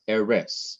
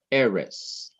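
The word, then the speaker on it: ארץ: emphasize the last syllable emphasize the syllable before the last syllable so Ares not Ares but Ares which means land or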